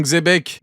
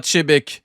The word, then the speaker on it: Xebec: Regardez, il est pas beau mon Xebek. D'ailleurs, tu utilises ma miniature. Donc tu dis pas Chebek, tu dis Xebek.